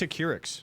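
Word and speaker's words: Acurx: uh of ac xp how do you say the name it's a keurix a keurix pharmaceuticals we uh we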